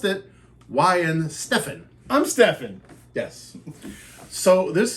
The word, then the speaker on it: Weihenstephaner: something from and it tells me how to pronounce it why and Stefan I'm Stefan yes so this is the world's